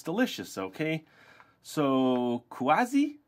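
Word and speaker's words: 筷子: cool all right so it's delicious okay so kuazi said the waitress in Chinese that's our word for Chopstick said Shen it's pronounced like this qua Z that's a real tongue twister zy said as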